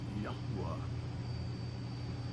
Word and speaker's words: Yahweh: And so he told his grandson that the way that they had always pronounced his name was Yahweh.